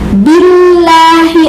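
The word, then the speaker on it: بالله: Billahi ada tasydid itu ya, jadi harus ditekan dulu. Billahi, a'udzu billahi minasyaitoni, gitu ya. Minasyaitoni, gitu ya bacaannya. Jadi perhatikan. A'udzu billahi minasyaitonir rajim.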